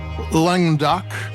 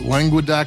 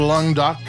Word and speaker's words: Languedoc: It's from um Languedoc. I used to pronounce it Languedoc three syllables, but I was told it's two, but sounds better the other way.